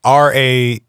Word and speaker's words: Raelian: it's Raelian is Raelian, Okay. as in rye bread, and then sorta alien.